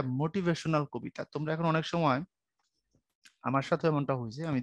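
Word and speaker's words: Psalm: এখানে কিন্তু পি কিন্তু সাইলেন্ট। বুঝতে পারছো? ভাইয়া বোধহয় শুরুতে এর জায়গায় দা বলছিলাম, দাসাম, এটা হবে যেহেতু নামটা এরকমই, সাম অফ লাইফ। আর পি এখানে সাইলেন্ট, পির উচ্চারণ তুমি করতে পারবে না, কারণ পির পরে দেখো কোনো ভাওয়েল নেই।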